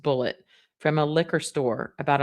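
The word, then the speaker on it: Bulleit: She says Wendy drove many miles out of her way to purchase Bullet brand whiskey, pronounced Bullet, from a liquor store about a block from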